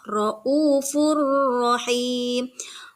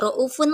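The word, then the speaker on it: رءوف رحيم: adalah idqom yang selanjutnya contoh roufur rahim roufun Nah itu tanwind domah ke depannya diikuti dengan huruf ro dibacanya tidak roufun lagi tapi roufur rahim roufur roufur tidak roufun nah tapi tidak dengan guna tidak berdengung roufurahim tidak raufur tidak seperti itu ya Oke kita lanjutkan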